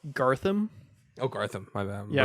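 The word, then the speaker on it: Garthim: Gartham. Oh, Gartham. My bad. Yeah, bad pronunciation. Yeah. Okay, Gartham's like.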